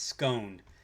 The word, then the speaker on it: scone: It's scone. I pronounce it scone.